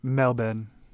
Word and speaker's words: Melbourne: I say that right Melbourne yeah but you're going to get made fun of by the Australians cuz they don't pronounce the R so they just said melbin melbour melbin Mel melbs